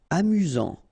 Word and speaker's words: amusant: Amusant. Final T not pronounced. You've got only one S here between the vowels, so it's really this Z sound.